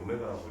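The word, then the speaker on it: omega: 즉, 오메가라고 이거 W라고 읽지 않고.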